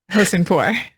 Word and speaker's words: Hosseinpour: And Tannaz, you will have to help me with the pronunciation of your last name. Hosseinpour.